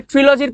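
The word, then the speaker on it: trilogy: তাহলে ট্রিলজির পরিভাষা হচ্ছে ত্রই। থ্রিলজির পরিভাষা কি? ত্রয়ী। এ উচ্চারণ হল ট্রিলজি ্রিলজি অনেকে ট্রাইলজিও বলবে বাংলায় বলে ত্রিলজি বা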